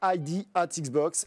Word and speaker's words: ID@Xbox: On commence par le commencement, ID at Xbox, c'est le petit nom de Independent Developer at Xbox. Et oui, le A se prononce at.